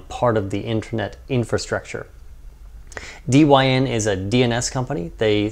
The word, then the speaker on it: Dyn: internet attack that occurred against dyn or it's probably pronounced dine for you know short for dynamic Dynamic DNS many attacks